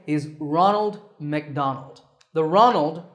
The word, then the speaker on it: Ronald: is Ronald McDonald the Ronald rhymes with Donald another fast food company